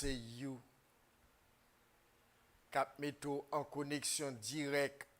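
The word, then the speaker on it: HU: puis vous pourrez chanter You, qui s'écrit H-U, mais qui prononce You.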